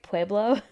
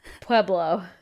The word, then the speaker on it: Pueblo: Did I say that right? Pueblo? You say it very white, but sure. How do I not say it white? Tell me how to say it. My parents live in Pueblo. Pueblo. Yeah.